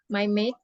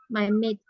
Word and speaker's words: maid: Nah, tadi waktu Kak Rara bilangnya gini, suaranya tuh lebih pronunciation-nya salah. Jadi Kak Rara bilangnya tuh lebih ke sini, my mate. Nah, ini artinya adalah teman, friend. Tapi kan harusnya ini, my mate. Pakai D belakangnya.